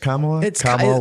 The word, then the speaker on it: Kamala: do you pronounce it Kamala Kama you got to think of a Kama if I say your